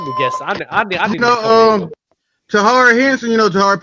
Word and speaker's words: Taraji: It's spelled T-A-R. You know her. Taraji.